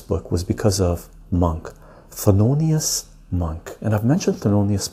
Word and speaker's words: Thelonious: This is the way you pronounce his name or spell his name. T-H-E-L-O-N-I-O-U-S.